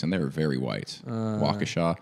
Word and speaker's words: Waukesha: they were very white waukesha that was wakisha when i went there